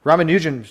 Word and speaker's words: Ramanujan: R the Ragan I think his name is pronounced ramuan thank you ramanujan summation yes then using 1 plus 2 plus